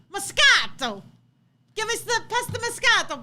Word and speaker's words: moscato: answer is number two say it like an italian moscato moscato give me the pesto